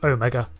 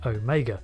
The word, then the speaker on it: Omega: For example, the Omega in Doctor Who, it's his name, so I made an effort to pronounce it as Omega rather than Omega or Omega.